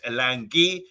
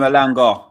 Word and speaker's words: Elanga: As you would say, I'll call him Elanga. Yeah, I spell it differently. Now. Yeah. So after his beautiful performance there, you call him Elanga now for good. No more Elangi.